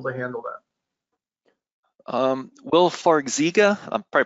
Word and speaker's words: Farxiga: handle that um will farxiga i'm probably pronouncing that incorrect for zika f-a-r-x-i-g-a will that help with edema yeah so you pronounced it correctly it's farsiga farsiga is one of these